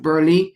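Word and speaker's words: Burleigh: nina i think of last name is pronounced burly g b-u-r-l-e-i-g-h where she talked about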